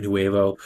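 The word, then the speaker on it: nouveau: I think it's actually pronounced Nuvo, not Newevo, but there's the, you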